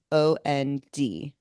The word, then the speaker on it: almond: How do you pronounce this word? Almond.